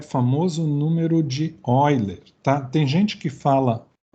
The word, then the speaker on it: Euler: seria número de Euler, mas em português seria Euler, tá? Então, eu não vou brigar com questão de semântica, eu vou falar Euler, tá, pessoal? Mas saibam que se escreve Euler.